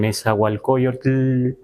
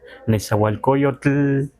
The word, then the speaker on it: Nezahualcóyotl: Pero entonces, los que ya están escuchando, no es lo mejor decir Nezahualcóyotl, sino Nezahualcóyotl.